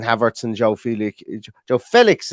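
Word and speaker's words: João Félix: arts and Joe Felix Joe Felix as I've been told it's pronounced in the chat there um on up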